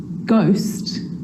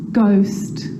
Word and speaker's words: ghost: The H is silent. So it's choir, choir, echo, echo. With a G, ghost, ghost.